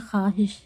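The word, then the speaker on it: خواہش: है हम लोग बोलते हैं खवाब लेकिन लिखते हैं ख्वाब यह वाव जो है इसको पढ़ा नहीं जाता है ख्वाहिश लिखा है लेकिन हम बोलते हैं ख्वाहिश वाव को पढ़ा नहीं जाता है वाव साइलेंट है खुश खुर्शीद तो क्या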